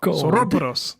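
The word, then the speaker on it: saurópodos: No, sauropodos. That's how the accent is on the first O.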